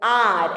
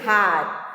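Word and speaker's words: hour: Like you know, R, H-O-U-R-R. So H is silent. We are not saying hard, R.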